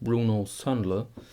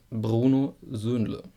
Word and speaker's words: Bruno Söhnle: It's not Bruno Söhnle, it's Bruno Söhnle. Bruno Söhnle. A little bit tough. I can see this, but it's the way it is. Bruno Söhnle.